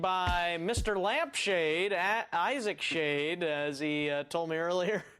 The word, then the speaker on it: Schade: I am joined by Mr lampshade at Isaac shade as he told me earlier today as I